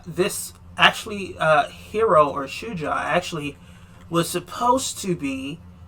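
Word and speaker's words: shujaa: with the generic name hero or shuja which that is actually how it's pronounced as swahili for hero so you know i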